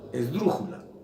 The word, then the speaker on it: esdrújula: Esdrújula, la palabra esdrújula, si ustedes se fijan, lleva el acento en la antepenúltima sílaba.